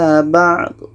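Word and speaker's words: بعض: Contoh, ba'hum ala ba'd. Sayang, sedikit saja, jangan terlalu banyak. Ba'd, ba'd. Ah, suara keras itu adalah qolqolah, itu salah.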